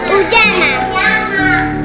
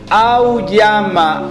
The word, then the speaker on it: auyama: Uyama. Oigan a Marcelo. Uyama. Eso es pronunciar la primera letra, es una vocal. A. U. Sí. Auyama, Auyama.